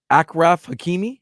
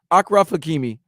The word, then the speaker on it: Achraf Hakimi: If I'm pronouncing it wrong, I'm sorry. Apologies. My apologies. I think it's Achraf Hakimi.